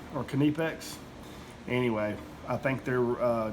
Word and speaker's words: Knipex: wrong I think it's knipex um I always when I first saw this I always uh pronounced it with a K silent kind of like you say knife but I think uh